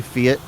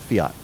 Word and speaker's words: Fiat: And in the UK, everyone's going to pronounce that fiat, not fiat. Wait. Logan and Meg, what is that? How do you pronounce that word? Fiat. Yeah, yeah. That's how I've always heard it. Yeah. Oh, okay. Fiat? Fiat.